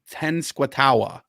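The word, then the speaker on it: Tenskwatawa: well I will try it's t-e-n-s-k-w-a-t -a-w-a so it looks like it's 10 SWAT ten squatawa um I'm not going to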